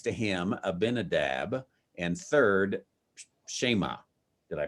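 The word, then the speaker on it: Shammah: firstborn, and next to him Abinadab, and third Shema. Did I pronounce that right?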